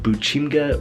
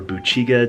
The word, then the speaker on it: 부침개: This is called Buchimgae or Buchimgae, depending on where you're from in Korea. I believe they pronounce it differently.